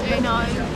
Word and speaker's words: Eno: It's pronounced Eno.